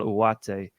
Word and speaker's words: Ugarte: Found a video of him pronouncing his own name, and he seems to miss out the G. He says Manuel Ugarte, which is, I presume,